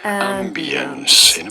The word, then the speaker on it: ambience: You do want to stress on the first syllable. Ambience.